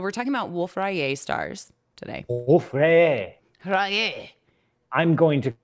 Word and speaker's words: Wolf-Rayet: Well, I'm not saying Rayet. I'm saying Rayet. Rayet stars. Rayet. Wolf. It's not hard. Just Wolf. Rayet. Rayet.